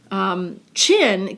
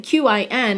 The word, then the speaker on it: Qin: Qin, Q-I-N, is actually pronounced like that thing on your face.